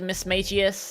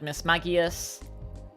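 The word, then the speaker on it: Mismagius: Now, I've heard different ways of pronouncing this Pokemon's name. I've heard Miss Magius. I've heard Miss Maggias. I'm going to go with Miss Maggias.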